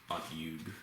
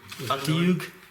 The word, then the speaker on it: Otyug: Yeah, I definitely don't know how to pronounce that. Otyug. Maybe. Otyug?